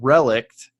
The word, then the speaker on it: relict: and relict right and the word relict which is just the T is pronounced it is a thing